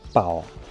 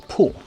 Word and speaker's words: 堡: 这个字我们南方人呢一般是读作宝，但是在这里被读作铺。